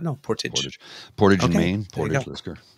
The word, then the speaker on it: Portage: because it's um oh what guys it's not Portage let's go it's Portage olisker good to know thank you kiddana that's how it's pronounced I did not know Portage in Maine not Portage yeah it's pretty spelled the same as just